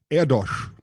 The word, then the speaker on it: Erdős: you should you're a respectful human so paul erdosh you already know this story i know his